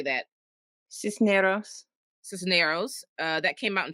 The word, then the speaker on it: Cisneros: Cisneros.